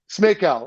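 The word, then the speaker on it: Smejkal: I can't say his name, and I take pride in pronouncing names properly. Smay? Smakel.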